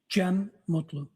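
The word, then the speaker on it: Cem Mutlu: Jen Mutlu.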